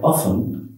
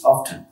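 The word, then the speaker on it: often: আই অফেন, এই অফেন শব্দটার অর্থ হচ্ছে প্রায়, কিন্তু এর উচ্চারণ আরেকটি হয় সেটা হচ্ছে অফটেন। আমরা এখানে অফটেনও বলতে পারি, অফেনও বলতে পারি।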